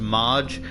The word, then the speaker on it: Marge: I'm pretty sure his mother's name is pronounced Marge, but my brain keeps trying to connect it or correct it as Margie.